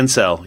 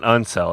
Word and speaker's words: incel: Yeah, incel. Yep. It's not uncel. It's incel.